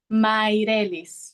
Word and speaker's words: Mairelis: veces mato los nombres cómo se cómo se pronuncia bien maelis maelis lo tengo maelis maelis este mencionaste que